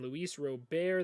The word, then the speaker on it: Luis Robert: And Luis Robert, that is how you pronounce it, will be their starting center fielder.